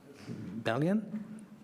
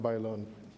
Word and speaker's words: Bailon: Balian? Thank you, Mayor. You'll get it right one of these days. It's okay. I'll be here for a while. That it's going to be pronounced Bailon.